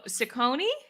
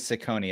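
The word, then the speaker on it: Ciccone: bit harder madonna uh sicconi how do you pronounce it i forget how to pronounce it i think it is ciconi it's c-i-c-c-o-n-e so taylor you got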